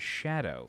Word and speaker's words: Scadu: FK Bui said that scadu is pronounced in Old English as Shadow so Jeremy Roman left